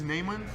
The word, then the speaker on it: Neiman: So we have two ways of saying it. We have the Brazilian way and the American way. Mm-hmm. So in Brazil it's Neiman, and here in America they call me Neiman.